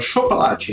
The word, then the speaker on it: chocolate: Então a palavra chocolate em inglês é chocolate. Chocolate.